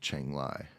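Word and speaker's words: Chiang Rai: Rai but it's pronounced Chang Li um and that's that's not an Asian dig that's just the way it's pronounced a lot of their RS are actually L's and that's where I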